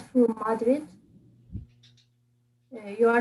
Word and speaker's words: Madrid: okay it's quick okay the stress is on the second madrid okay so yeah not madrid but madrid okay yes thank you next